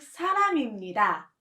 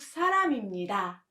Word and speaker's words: 사람입니다: So you have to let it flow with 입니다. You pronounce it as 저는 미국 사람입니다. Let's read it aloud together. 저는 미국 사람입니다.